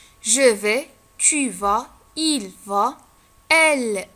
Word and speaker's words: vais: Le verbe aller au présent je vais, لاحظتوا ديك اسم ما كتنطقش je vais, tu vas, il va, elle va, on va, nous allons, vous allez, ils vont ou elles vont.